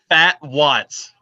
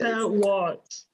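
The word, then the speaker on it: Phat Watts: so I gotta look say his name again fat Watts there he is fat Watts p h a t oh okay I was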